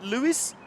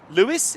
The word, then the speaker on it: Lewes: I'm assuming you've probably already come from Brighton, or maybe from Lewes. Lewes, is it?